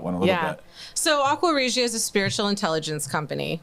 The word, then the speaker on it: Aqua Regia: Can you pronounce it better than that? Aqua Regia.